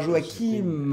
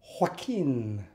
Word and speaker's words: Joaquin: C'était Joachim. oui, Joachim. Joachim. Il faut dire Joaquin. Quoi? Joaquin. Vas-y. Joaquin. C'est pas. Ne Ouais. racle pas la gorge. C'est. Après, c'est le. Joaquin.